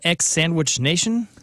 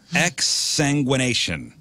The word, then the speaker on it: exsanguination: I never knew what exsanguination meant. Mm. Okay. Yeah, you taught us. Not only did you learn, but you taught. Did you say ex-sandwich nation? Exsanguination.